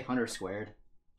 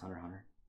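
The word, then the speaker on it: Hunter × Hunter: Do you want that chat to say Hunter Squared when it's clearly pronounced Hunter Hunter?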